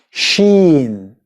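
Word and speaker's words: شين: Then we have the letter sheen. Sheen. Which is pronounced sh.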